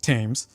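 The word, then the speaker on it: Thames: There's this wonderful scholar named Knox Tames and his name is spelled like the river Tames but it's pronounced Tames.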